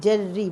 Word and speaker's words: جری: تو نمبر 1 ہے جری. تو ادھر آپ دیکھیں جری، جیم زبر جر زیریا ساکن ری، جری بولیں گے تو اعراب آٹومیٹیکلی ٹھیک ہو جائیں گے.